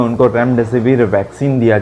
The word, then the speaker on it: Remdesivir: कुछ अलग अलग ही नाम लेते हैं, रीमेड लेते हैं, देन रेमडेसिविर लेते हैं। इसका ये गलत प्रोनाउंसिएशन है दोस्तों। इसको हम प्रोनाउंस कैसा करेंगे, 3 भाग में हम तोड़ के इसको प्रोनाउंस करेंगे। रेमडेसिविर इसका ये एक्चुअल प्रोनाउंसिएशन है।